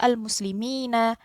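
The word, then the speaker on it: المسلمين: Jadi yang sebelumnya al-muslimuna atau as-salihuna dibacanya al-muslimina, as-salihina. Bedanya ada di huruf sebelumnya. Huruf sebelumnya dibaca kasroh. Gitu ya. Sehingga tidak ada diftong di situ.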